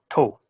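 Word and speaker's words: 唐: here, the word is this kanji and it's pronounced kara. Kara. Okay. Noun or prefix. China, sometimes you also use in reference to Korea or other foreign countries. Okay. Down here, same kanji, pronounced to.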